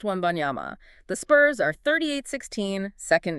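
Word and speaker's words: Wembanyama: Pronounced Webbyama.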